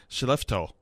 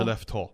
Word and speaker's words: Skellefteå: This is the 4th round pick defenseman, and he is from Skellefteå.